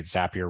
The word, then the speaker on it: Zapier: say on the website zapier rhymes with happier so I know I'm pronouncing that correctly um zapier is a tool that